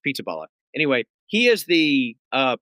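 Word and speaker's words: Pizzaballa: a funny sounding name pizzaala. I'm not even sure if that's how you pronounce it but it is p i zza b a l l a. So it's pizzaala.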